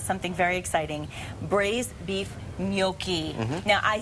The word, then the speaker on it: gnocchi: So Mom, sorry, it's not gnocchi, it's gnocchi.